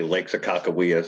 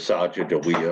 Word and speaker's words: Sakakawea: Everybody that tries to say Lake Sakakawea says Sajajawea or something like that.